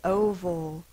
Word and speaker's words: oval: It's an A-L, it's a schwa. O. Well, I know an open syllable, the vowel says it's long sound, so that's a syllable by itself. O, vol. Oval.